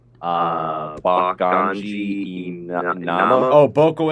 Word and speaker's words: Imama: Ford, I'm not going to try to pronounce that name. Bakanji Inama. Oh, Boko Imama.